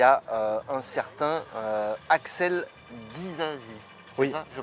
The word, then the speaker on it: Disasi: Et en vrac, il y a un certain Axel Disasi. Oui. C'est ça, je prononce bien ou pas? Ouais, Disasi, ouais.